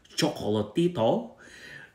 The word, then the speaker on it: Chocolatito: how to pronounce chocolatito the pronouncer was pronouncing a chocolatito and it's actually chocolatito and i find that